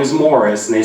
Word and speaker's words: Maurice: on my family tree I assumed it was Maurice and I kept saying that my mother find correctly she's like I think it's pronounced Morris and then it dawned on